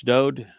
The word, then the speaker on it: Dowd: and accept Yahweh's pronouncements that it's Dowd, who the world calls David. It's just a mispronunciation of his name.